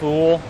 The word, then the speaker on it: Houle: our new head coach jf you'll pronounced cool is in cool and it's not cool